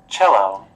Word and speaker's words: cello: Cello. Cello, nó viết là cello thiệt nhưng nó đọc là cello.